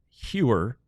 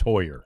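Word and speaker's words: Heuer: Cody Huer, who has No, Hoyer. Is it Hoyer? Yeah. PR PR is another thing. It's Hoyer. Well, and Mike Maddox was pronouncing it incorrectly. Oh, wow. Okay. Yeah. No, PR says it's Hoyer.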